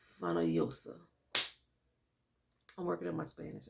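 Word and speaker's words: Fonollosa: No, Fanalosa? Fanalosa. This is 2 L's. And in Spanish Castellano, 2 L's. This is a Y. So it was Andrea de Fanoyosa.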